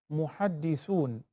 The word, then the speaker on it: muhaddith: In the pronunciation of the word muhaddath and muhaddith, muhaddathun and muhaddithun. So if we're talking about muhaddith with a zair beneath the letter dal, then it will refer to the subject.